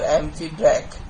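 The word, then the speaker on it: amphibrach: the trisyllabic feet is amphibrate okay or amphibrak am phi b r a c h okay in this in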